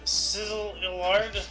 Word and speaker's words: Szilard: Szilard. I just wanted to hear you say it. I don't know how to pronounce those two letters.